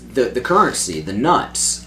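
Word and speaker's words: Knut: no, for a it's the currency, the nuts. I always K-N-U-T. I always read it as nut, but in the books, Jim Dale calls it a canut.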